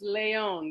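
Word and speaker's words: Lejon: I'm good, and it's Leon. The J is silent.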